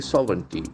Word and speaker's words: sovereignty: Okay, we have probably 3 syllables for that. Sovereignty. Sovereignty. Sovereignty. The accent falls on the first syllable.